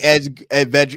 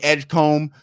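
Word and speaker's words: Edgecombe: You got VJ Edge Veg. Um, I keep saying his name wrong. VJ Edgecomb for the Philadelphia 76ers.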